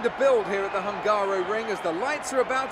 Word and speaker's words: Hungaroring: This episode, we're going to be racing for the Hungarian GP, the Hungaroring.